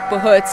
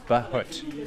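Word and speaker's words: buhurt: Our whole focus is on training people in armor for Bahut and for pro fights. So I understand, Bahut is basically not one-on-one, No. it's everyone above. It's team fighting, yeah. And it's Bahut. Bahut.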